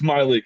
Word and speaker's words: Mylik: it's Myleik. It's Oh, Mylik. He was Miley great. Wilson. He deserves his name to be pronounced correctly.